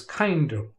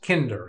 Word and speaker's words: Kinder: And that's because this way it looks like the name is Kinder. Kinder, when it's actually pronounced Kinder.